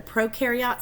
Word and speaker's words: prokaryote: And then add the prokaryote stuff, all prokaryotes, which means pro rhymes with no.